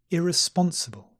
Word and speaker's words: irresponsible: by this symbol and we have the two stresses because the words are longer listen irresponsible unacceptable unreliable unavailable so we have a little stress on the first syllable and the main stress on the third syllable let's try them all